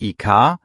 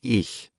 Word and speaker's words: ich: Das CH ist weich, so hahaha, fast wie Luft. Nicht IK, sondern ich. Sag mal leise, ich. Ja, genau so.